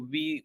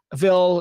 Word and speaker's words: ville: I'm not quite sure what I can say, but for example, V would be one of them, which is like city. It's spelled VILLE.